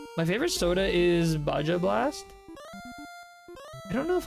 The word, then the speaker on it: Baja Blast: they really are they really they are it's pronounced Baja oh is it Baja Blast oh I can't